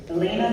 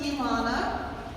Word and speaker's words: Elana: contains my mission um it's pronounced Elana which is a Hebrew name that means uh it's